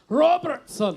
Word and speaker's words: Robertson: it you know like I know how to pronounce it it's Robertson Rober that's right Robertson yeah Robertson